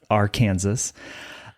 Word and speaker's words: Arkansas City: He grew up in uh our Kansas City, Kansas. And yes, that is the the correct pronunciation of our Kansas.